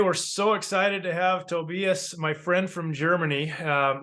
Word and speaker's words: Tobias: I can say Tobias, and he'll forgive me, but it's Tobias. So anybody that speaks German can laugh at my pronunciations there.